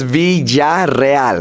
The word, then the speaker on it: Villarreal: and the two L's is a yah sound and the two RS is a r sound so it's so it's so it's V right that's my last